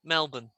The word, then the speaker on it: Melbourne: word to spell okay melbourne australia obviously how do we spell that melbourne we have um lots of places in england that has borne and we pronounce it as bun melbourne yeah let's try how